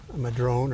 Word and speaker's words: madrone: That's a madrone or madrona, depending on how you choose to pronounce it.